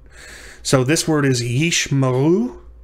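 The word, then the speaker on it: יִשְׁמָעֵאל: so this word is ishmael and yeesh is a single syllable the the herek the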